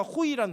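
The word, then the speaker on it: הוֹי: 이 슬프다라는 히브리어가 호이라는 단어예요. 좀 웃기죠. 호이 하는 거 있잖아요. 그게 이제 똑같은 발음인데 이게 슬프다라는 단어인데 구약에서 전체 46번이 쓰여졌어요.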